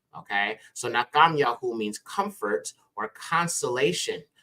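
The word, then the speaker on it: נחום: you've got the mom so that gives us nakam and then you have the yah which is the shortened version of yah's name okay so nakam yahu means Comfort or consolation of yah or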